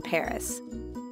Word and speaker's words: Paris: apari at the end notice how the s at the end of paris is silent again let's practice repeat